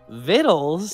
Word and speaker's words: victuals: Vittles? Yeah. Wow. What? Wow. Look at that word. Why is that word vittles?